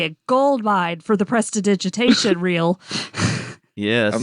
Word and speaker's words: prestidigitation: That's not how you say it, Aster. So close. That's not? No. no, No, that's really? not how you say it. Prestigitate? No? Prestidigitation. Why? it hurts so much.